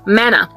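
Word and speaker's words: manna: do you call this Mana indeed it rightly rhymes with Hannah because Hannah was given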